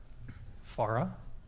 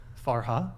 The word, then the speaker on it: Farha: Farah. Did I say it right that time? No. I said it right before, Yeah. but okay. Farha. Yeah.